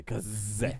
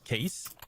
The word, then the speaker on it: Case: but okay uh yeah it's that's why it's pronounced CA okay so from now I'm going to say Kaz I mean we tried we have tried but we have always casted them as case for a while case well that's English for